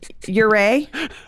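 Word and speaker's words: Ouray: this differently uh how do I say it uray you say I I would say uray uray I I I've heard you say uray I I you know honestly this is another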